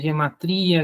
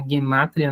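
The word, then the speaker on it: גימטריה: É aí que entra a guemátria, que se fala muitas vezes gematria, guematria, mas a pronúncia do hebraico seria guemátria mesmo.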